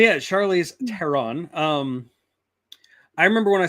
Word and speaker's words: Theron: teron by the way is it teron really is that how it's pronounced it's it's that um Germanic hard th uh that makes sense